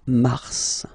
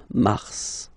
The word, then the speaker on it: mars: okay then max okay so in a way it's an exception because normally final s is not pronounced in french okay we've got some exceptions and this one is one of them so mars pronounced the final s mars mars okay then avril avril